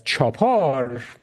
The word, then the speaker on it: chapar: thing about that is chapar is very very similar to a farsy word that is very well understood in Iran and we pronounce it as chapar we don't pronounce the U in that word and it refers to